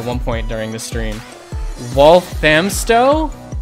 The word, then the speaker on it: Walthamstow: Walthamstow? Yes, Walthamstow. Walthamstow. Okay, I had the wrong emphasis on the wrong syllable.